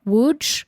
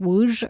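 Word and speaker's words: Łódź: they were from uh woj which it's spelled l o DZ with a with a slash in the O but it's pronounced woj or something I guess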